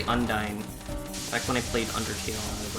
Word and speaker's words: Undine: Princess Undine. I would just say Undyne.